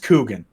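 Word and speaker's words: Kuchen: Q no okay no it is smoked k UC h en and it is pronounced Coogan it's not good I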